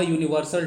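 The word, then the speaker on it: universal: Okay ना, यूनिवर्सल के पहले आर्टिकल ए लगेगा, यू है लेकिन इसका प्रोनाउंसिएशन जो है से य होता है, अंतस्थ य ना, तो इसीलिए इसके पहले आर्टिकल ए लगेगा।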